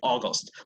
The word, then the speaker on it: August: gonna be August after burn how do you pronounce it how do you say yeah go store come on August August let's repeat it August August it does Sicilian